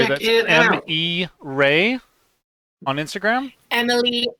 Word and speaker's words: Reay: So yeah, no, if you go and look on my Instagram, my handle is Emily M Ray. That's spelled Reay.